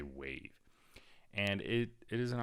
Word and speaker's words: WAV: so wave is pronounced wave right wav you don't say it like that you just say wave and it it is